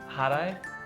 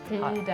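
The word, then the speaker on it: ሕዳር: Harai? No, it's Almost. Haro. Hidar.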